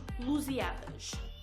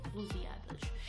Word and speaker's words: Lusíadas: Well, guys, this man was famous for writing a poem about Portugal called Os Lusíadas. Okay, I hope I'm pronouncing that correctly, but I believe it's Lusíadas.